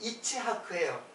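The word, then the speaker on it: יצחק: 그 이삭의 이삭이 이제 히브리 말로는 이츠하크예요.이 이 이츠크 이츠하크를 갖다가 우리말로 이삭이라고 이렇게 쓴 거예요. 그 원래 발음은 이치하크예요. 그 이체하크가 바로 차하크예요.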